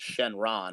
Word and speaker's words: Shenron: of all dragons um in japanese it's pronounced shenron which is what like it's called in the english dub as well uh but here it is called shenlong and also it's worth